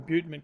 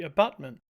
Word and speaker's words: abutment: somebody's just told me I'm not pronouncing your Butte mint correctly it should be abutment well I think it's